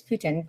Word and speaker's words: poutine: poutine though I think I know it's not pronounced that way it's Putin but yeah it's so